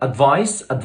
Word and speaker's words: advice: اما الكلمة الثانية advice والكلمة دي لا تعد، هتتكتب بالسي وتنطق بالس.